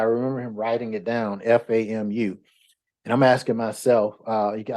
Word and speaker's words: FAMU: Okay, it wasn't FAMU, it was acronym for Florida A&M University, and actually it's pronounced FAMU.